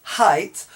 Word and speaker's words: height: The GH is not pronounced, but this is pronounced height, whilst this is pronounced weight.